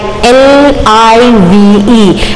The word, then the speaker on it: live: They will live telecast, and it is whereas live, L-I-V-E, it is pronounced as live cricket.